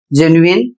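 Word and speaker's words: genuine: अगला शब्द है जी ई एन यू आई एन ई और इसका उच्चारण होता है जेनुइन और इसकी हिंदी होती है वास्तविक।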